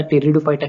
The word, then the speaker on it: Pteridophyta: जैसे मैंने आपको पहले ही बताया था, टेरिडोफाइटा की जो स्पेलिंग है वो पी से स्टार्ट होती है, लेकिन जो पी है वो साइलेंट है। इसका प्रोनाउंसिएशन टी से स्टार्ट होता है, टी।